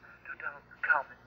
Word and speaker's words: Tutankhamun: It's pronounced Tutankhamun.